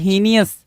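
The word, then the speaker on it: heinous: तो हीनियस के लिए जो वर्ड निकल कर आ रहा है एच इ आई एन ओ हीनियस की स्पेलिंग बड़ा पूछता है भाई।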